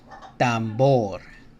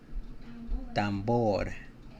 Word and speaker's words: tambor: Tambor. Tambor. Right, soft sounding R here.